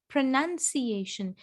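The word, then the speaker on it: pronunciation: आपको समझना पड़ेगा यहाँ पे नाउन नहीं है बट नन है. इसमें ही देखिए ना, there is no noun, it's none. प्रोनाउंसिएशन.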